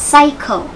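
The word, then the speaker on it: psycho: ยัง ไง ดี เอ่ย อ่าน ว่า Cycle Cycle นะ คะ PS ลืม ตัว P ไป ซะ ออก แต่ เสียง S S Y Y นะ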